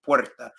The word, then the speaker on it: Puerta: I leaving from okay if you're working on your pronunciation with Puerta right Puerta I think about the word where in English like where in the World is Carmen San Diego uh traveling see what